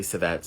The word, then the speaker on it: civet: And then also from there, and some people pronounce it kivet. Some people say civet. It's just either whatever you want to call it, really.